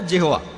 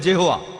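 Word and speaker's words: Jehovah: এটা আছে ওল্ড টেস্টামেন্টে, সেখানে দেখবেন যে ঈশ্বরকে বলা হয়েছে ইয়াহোয়া, বাইবেলে আছে। এটা ঈশ্বরের একটা নাম। আর উচ্চারণ করার সময় তারা সামনে একটা জে লাগায়, আর এটা হয়ে যায় জেহোয়া।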